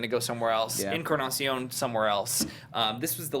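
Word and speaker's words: Encarnación: So no, well, Bautista, and how do you pronounce it? Is it Encarnacion? Encarnacion.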